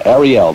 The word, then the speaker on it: Arielle: pronounced Ariel this is actually spelled Ariel but Arielle then from the Cure